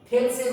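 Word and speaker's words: Thales: 1 এর ক্ষেত্রে দেখো থেলসের উপপাদ্য অনুযায়ী, থেলস এর উপপাদ্য অনুযায়ী তোমাদের বইতে এটা থ্যালেস বলে বাংলাটা লেখা আছে, কিন্তু এখন উচ্চারণটা কিন্তু থেলস হবে। ওকে, উচ্চারণটা কিন্তু থ্যালেস হবে না, উচ্চারণটা থেলস হবে, ঠিক আছে?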